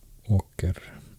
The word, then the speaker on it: åker: In Swedish, many A vowels have turned into O with this letter A with a ring over, unpronounceable. More like the English O, actually. O. Åker is a field, farming field in Swedish.